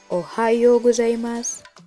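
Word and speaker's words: おはようございます: lebih muda daripada kita untuk pengucapannya huruf vokal out dibaca panjang Oh contohnya Ohayo gozaimasu ohayou gozaimasu selanjutnya ada Konnichiwa artinya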